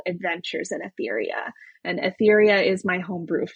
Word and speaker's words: Aetheria: So Tales of Athetheria is uh the name of the book series that I'm doing. And then the game series is going to be called Adventures in Athetheria.